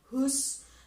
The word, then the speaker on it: whose: Ke adjective clause ketiga, kita ada whose di sini, membacanya whose meskipun ada huruf W, tetapi huruf W-nya tidak diucapkan.